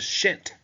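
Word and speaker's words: pschent: at the bottom the shint shint try and trying to sort of quietly pronounce that p which combine the red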